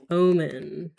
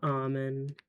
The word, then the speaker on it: Omen: Omen. Yeah, I guess I should pronounce it like omen and not almond.